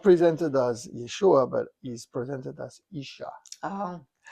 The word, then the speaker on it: Yeshua: So, again, you know, in those places they could not pronounce the name of Yeshua correctly, so they call him Isha or Ishi.